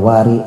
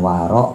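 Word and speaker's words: ورع: Bifathil wawi dengan memfathahkan wunya. Dibacanya wa bukan wi bukan wu. Wa kasri roi dan mengkasrahkan rnya. Jadi wari bukan waro bukan waru sifata musyabbahatin jadi sifat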